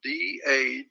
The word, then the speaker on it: Dagon: It's spelled D-A-G-O-N, Dagon.